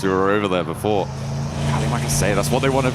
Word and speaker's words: Terima kasih: Oh, is it Terima kasih, right? Terima kasih, that's it. Yeah, we were learning it whilst we were over there before. Terima kasih, that's what they want to be saying towards the end.